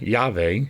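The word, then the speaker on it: Yahweh: verb haah to be we accept yave as the more probable pronunciation dictionary of the Bible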